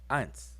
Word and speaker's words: eins: But in German, this same symbol now is pronounced eins. Eins.